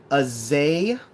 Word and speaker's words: Azalea: Not being rude, but just so you know, it's pronounced Azalea.